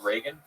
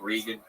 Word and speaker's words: Reagan: people part most interesting you mispronounced Reagan you're like I like rean like that that I